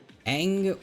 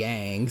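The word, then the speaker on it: Aang: Their name is you could pronounce it like Ang.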